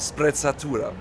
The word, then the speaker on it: sprezzatura: Yes, it's called sprezzatura. See, I don't pronounce it like that.